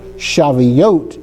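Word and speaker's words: שבועות: So the vav and the toav they make up the oat of shaveote.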